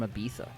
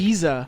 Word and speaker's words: Ibiza: Fun stuff, fact, I thought Yeah, it was it's like- Ibiza yeah. until right this second. Well, so. that's like the Yeah. official pronunciation for like the Spanish.